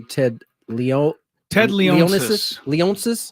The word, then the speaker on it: Leonsis: how do you say Ted Leon Ted Leon leonsis leonsis I believe Ted leonsis plans to move both